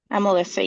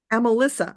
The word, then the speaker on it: Amelissa: Amelissa, yeah. Amelissa.